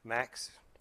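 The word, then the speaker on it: MCAS: Boeing thinking that they can launch the MAX with its MAX, with its MACS. That's ironic, isn't it? MAX and MACS is pronounced MAX as well, the MAX with the MAX system.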